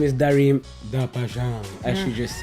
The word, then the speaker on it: Darim da Paixao: We're chilling with the one and only Darim da Paixao.